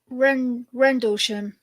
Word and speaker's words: Rendlesham: Rendlesham.